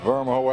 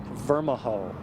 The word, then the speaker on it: Vermijo: Well, it's Vermijo Avenue. How do you pronounce the name of that street? Vermijo.